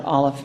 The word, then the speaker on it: Aleph: The first letter of the Hebrew alphabet is pronounced Aleph, and it can be spelled with an F or PH. They don't care, and I love Hebrew because I'm not a good speller. But it has no sound. It is silent.